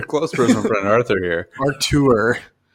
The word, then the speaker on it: Arthur: Artur. The H is silent.